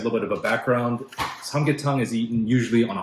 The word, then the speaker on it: 삼계탕: In Korean, this is pronounced samgyetang.